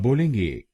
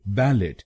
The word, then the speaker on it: ballet: तो इस शब्द को बैलेट नहीं बोलिए, इसको बोलिएगा ब्रिटिश इंग्लिश में बैले या अमेरिकन इंग्लिश में बैले।